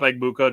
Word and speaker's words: Egbuka: I had to look up Egbuka just to make sure I was saying it right, and I was.